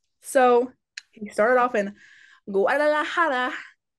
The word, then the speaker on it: Guadalajara: So, he started off in Guadalajara. Don't know if that's how you say it.